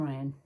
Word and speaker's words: Rion: I named my son Ryan. R-I-O-N instead of spelled the normal way.